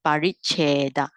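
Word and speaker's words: pariccheda: All right, so the pronunciation for those who are not familiar with Pali is paricheda. Long ear cheda.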